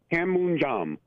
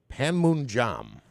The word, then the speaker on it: Panmunjom: How do you pronounce that place? Panmunjom. Panmunjom.